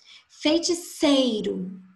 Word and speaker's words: feiticeiro: Feiticeiro. A sílaba tônica é o sei. Então, dá para perceber, mesmo sem acento, que o sei ele está recebendo uma intensidade maior. É a sílaba mais forte.